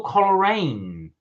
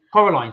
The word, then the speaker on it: Coraline: worth the calories uh Liam said I saw colorine coralan in the cinema have you seen that film no I Coraline Coraline sorry Coraline no I've not seen Coraline I